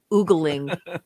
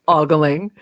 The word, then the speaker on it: ogling: ben affleck is ash boggling or oogling oggling um apparently both pronunciations are correct i checked the dictionary